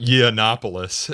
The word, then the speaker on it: Yiannopoulos: This fellow Milo I and I can't pronounce his last Yiannopoulos.